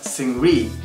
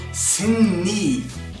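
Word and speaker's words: Seungri: and is called signe people who don't know hunger usually pronounce his name as sing read because that's why it's romanized but it's wrong the man is called sim me keep that in mind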